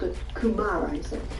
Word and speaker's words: kumara: You called it kumara, is it?